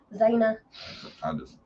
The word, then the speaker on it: Zayna: Zayna. Is that her name? Yep, Zayna. Cordova. How do you say her name? Zayna. Zayna.